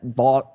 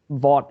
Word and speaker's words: Vaught: kiffins the lane train at Ole Miss at vault at Vaught Hemet oh God I don't want to get the stadium name wrong Vaught Hemingway stadium in Oxford um Alabama